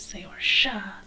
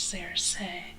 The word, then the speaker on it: Saorsa: And for those who are curious, the Gaelic pronunciation is Saorsa, but considering they stole it from the Irish Saorsa, I'm anglicizing it further.